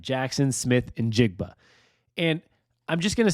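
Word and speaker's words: Smith-Njigba: And I did some YouTube searching on how to say it, so I know I'm saying it right. Jaxon Smith Njigba.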